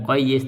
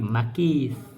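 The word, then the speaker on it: مقيس: Harusnya bacanya bukan muqayyis tapi makis dan makis alaih.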